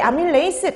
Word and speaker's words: 아밀레이스: 아밀레이스 이렇게 보시면 돼요 자 그래서 아밀라제 아밀레이스 다 같은 말입니다 근데 이게 독일식으로 발음 하느냐 영어식으로 발음 하느냐 그 차이만 있는 거예요 근데 요즘에는 영어식으로 보통